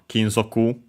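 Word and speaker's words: 金属: Yeah, literally metallic sound because yeah, it comes from Kinzoku, Chinese compound, accent on the first mora, this one which means metal.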